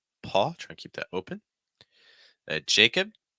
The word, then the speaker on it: Jacob: to keep that open Jacob Jacob so you have an a sound followed by a short I and I Jacob Jacob